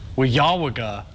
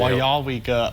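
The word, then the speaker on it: Weyauwega: How would you pronounce this town? Weyawaga. Oh, that is not even in the... Not even close. Well, I'll give you... We'll just show you the answer. Wyawega.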